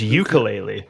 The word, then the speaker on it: ukulele: a letter there it's ukulele there's a k in it you were missing ukulele ukulele okay okay